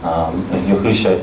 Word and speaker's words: Yahusha: Messiah, whom I call Yahusha because I think that is his original Hebrew name. Some people will say Jesus and others Yeshua. Yahusha is those 5 Hebrew letters in the way that I would pronounce those 5 Hebrew letters.